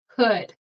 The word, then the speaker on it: could: So we have wood. The L is not pronounced. So would, should, could. Would, should, could. Okay. Remember, no L.